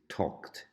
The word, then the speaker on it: talked: them Yanis in English that it's not talked 'add the pronunciation of tall in the past is talked such as it was a tea at the end talked although the spelling is